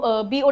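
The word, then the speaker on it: bow: दूसरा बी ओ डब्ल्यू का pronunciation होता है बाओ। क्या बोली मैं बाओ किसी के सामने झुकना।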